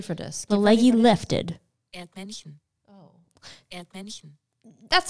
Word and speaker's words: Erdmännchen: Erdmännchen. Erdmännchen.